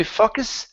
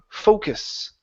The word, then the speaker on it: focus: to make sure that you are pronouncing an o sound at the beginning okay and not a uh sound if you say fuckus F okay it can